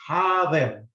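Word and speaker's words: حاضر: becomes a double vowel, so it's a ha, long. But the va has got a short vowel. You cannot say dhir, it's a dhi, because it just has a kasra, so the way to pronounce it is hadir.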